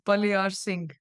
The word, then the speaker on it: Baliarsingh: Yeah, it's pronounced as Baliarsingh.